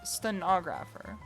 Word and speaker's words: stenographer: Emphasis on the second syllable is stenographer.